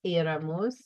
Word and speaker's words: éramos: So remember it's éramos with an accent, íbamos with an accent, and veíamos.